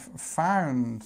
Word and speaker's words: found: the others so this to find we have this I sound so to find but actually when we have found sound we have this sound okay so it's ow found okay just remember that everything